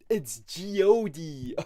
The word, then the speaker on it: Jyoti: Oh, it's Jyoti. Oh, yeah, of course, my bad. Why would I ever think that this Indian name is pronounced in any different way than the most American one?